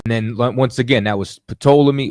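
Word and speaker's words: Ptolemy: once again that was patola me well it's really told me you know what I'm saying the p is silent but it's told to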